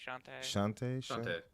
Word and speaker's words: Shantae: Shantae.